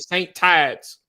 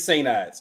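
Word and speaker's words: St. Ides: I think you said saint Tides no it's Saint eyeses it's sa eyeses like the word Saint and then I D S Oh I thought you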